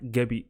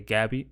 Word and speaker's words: Gabi: is duran it's pronounced gabi some people might say gabby but it's pronounced gabi so let's go through